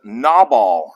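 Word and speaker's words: Nabal: Mountainside so verse 3 the man's name was knob all that's how you pronounce it n-a-w-b-a-w-l Knob all knob all which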